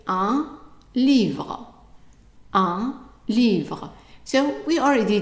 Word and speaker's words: livre: So we already did the word un before when we did the articles, and we know that the I is pronounced as an E, and the E at the end is silent, so it's easy to read.